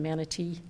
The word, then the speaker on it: manatee: do me a favor please start pronouncing the T in manatee Manatee I don't watch Keith K or whatever his name is on Channel 8 because he doesn't pronounce manate t correctly I know but you